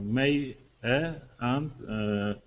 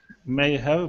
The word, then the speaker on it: may have: May have, but you said we pronounce like may. Maya. Yeah, you can pronounce it either. We say may have or maya.